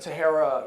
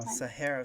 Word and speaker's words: Sahara: Eles falam Sahara, Sahara, Sahara. Sahara. Porque essa Sahara, não é tão simples pra gente, né? Sahara. Sahara. Sahara. Mas eu vou procurar essa questão do H aí e ver se tem uma regra lógica, né?